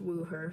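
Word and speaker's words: Wuher: mispronouncing his name but I believe it's pronounced woo her so yeah he's the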